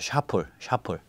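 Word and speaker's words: Chappelle: 그 채플이라고 했는데 그 사람 샤플이라고 있는데 아마 프랑스 쪽 그 언어를 쓰는 아프리카계인 것 같아요. 그러면 프랑스 언어 썼으면 그게 언어 쓰는 데서는 샤플이라고 읽어야겠죠. 샤플.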